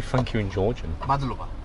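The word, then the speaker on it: მადლობა: Madluba. Madluba.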